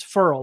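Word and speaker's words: Ferrell: everybody says feral and he said it's feral like referral and so that was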